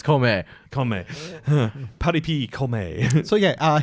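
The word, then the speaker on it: 孔明: like one verse, and then it goes to Kongming or Kaomei if you're I was watching going in to say, you Japanese. guys are pronouncing it the lame English way. It's Kome.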